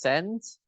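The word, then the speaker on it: scent: you can you can roughly say that the C is silent so the way you pronounce it is just s n t is the same way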